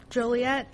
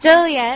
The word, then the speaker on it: Joliet: Iowa and uh tonight we're playing in jet Joliet jolet jolet it's actually illegal to pronounce Joliet wrong yeah it's like a $5